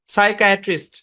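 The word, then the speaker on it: psychiatrist: যেমন psychology, psycho, সাইকায়াট্রিস্ট, এগুলোতে প্রত্যেকটাই শব্দের শুরুতে পি এস আছে, পি সাইলেন্ট।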